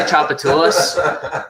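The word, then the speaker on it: Tchoupitoulas: Orleans from Boston, he's at some bar on Chapatulas called Vic's. There you go. You said it right, man. Are you proud of yourself? Yeah, I can say Chapatulas.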